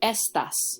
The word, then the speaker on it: estas: means these and again I'm using that first syllable I'm saying it a little stronger estas estas Rosas but here if I